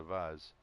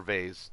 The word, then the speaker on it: vase: treasure I found another another Vaz it's just out lies or vase depending on where you're from and how you say it I think most people say vase but for some reason